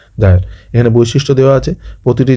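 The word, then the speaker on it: gyre: ঠিক আছে, আমরা অনেক সময় ক্লাস 10-এ এটা বাড়িমণ্ডলে পড়েছিলাম, গায়র বলতাম। ঠিক আছে, কিন্তু এটা অ্যাকচুয়ালি উচ্চারণ হচ্ছে জায়র বা কুণ্ডলী।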